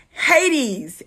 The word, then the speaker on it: Hades: Hades, H-A-D-E-S.